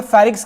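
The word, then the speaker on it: pharynx: जो हम बात कर रहे थे यहां पे फेरिक्स के बारे में। फेरिक्स जो आपका होता है जहां पर बहुत सारे लोगों को होता है कंफ्यूजन। फेरिक्स फेरिक्स इसका स्पेलिंग आपका फेरिंग्स है जिसे आप थ्रोट बोल देते हो।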